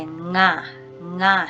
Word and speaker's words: ng': So these two, they are pronounced differently. So NG that has an apostrophe will give the nga sound.